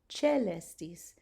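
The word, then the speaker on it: caelestis: There's a ligature AE, and so I'm saying celestis, certus, benedicimus, crucis, procedenti, cernui, dulce, subjicit.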